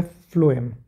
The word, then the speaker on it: phloem: जो नेक्स्ट हमारा complex permanent tissue है वो है फ्लोएम। फ्लोएम की स्पेलिंग है PHLOEM।